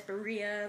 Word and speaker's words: birria: pronouncing it right but I think it's pronounced as Berea like b i r r i a tacos and some fried